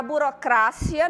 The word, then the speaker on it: burocracia: Já burocracia, não. A gente observa que em português a gente fala o quê? Burocracia, não é isso? Em espanhol, burocracia.